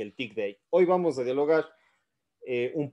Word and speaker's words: thick data: Data o si no una pronunciación para los que saben inglés sería tick date Bueno yo no sé mucho inglés Pero bueno todo caso voy a utilizar titic date o ti Data de las dos formas me siento más cómodo pronunciando como nosotros en español pero bueno hay gente que le gusta bastante el inglés entonces seguramente prefiera tick date eh ti date como